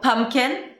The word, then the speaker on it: pumpkin: So pumpkin. So the P in the middle is not super clear.